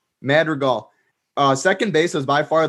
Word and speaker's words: Madrigal: How do you pronounce that name? Madrigal.